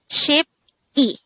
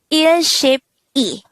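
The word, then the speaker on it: 십이: multiplier itself more example so if we have 12 it's ship e not earship e since the tens place is just multiplied to one we won't have to pronounce the ill part anymore so 12 is just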